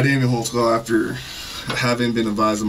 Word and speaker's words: Holtzclaw: I'll let your name there because I don't even know how to spell it. I can how do you say your own. Name? Daniel Holtzclaw. Holtzclaw.